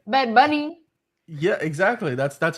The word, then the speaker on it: Bad Bunny: to join Bad Bunny I like how you put emphasis on the end of it bed bunny yeah exactly that's that's